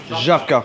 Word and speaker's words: Żabka: How do we pronounce this place? Is that Żabka or Żabka? Żabka.